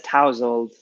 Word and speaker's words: tousled: and the now having tousled hair or tousled however it's actually pronounced and I'm in a big disagreement with my mother over this word and it's like maybe hair that is not when you wake up in the morning your hairs all kind of like mine right now mine is for sure so it's like messy hair messy messy hair let's have a look but people nice household does it google says tousled my mum honestly honestly